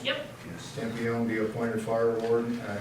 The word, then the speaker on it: Campione: Be it resolved that Michael Campione, is that the way it's pronounced? Yep. Yes. Campione be appointed fire warden at an annual salary of $1,026 for a term to expire 12/31/25.